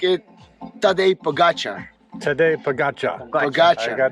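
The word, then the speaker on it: Tadej Pogačar: we pronounce it like it Tadej Pogacar.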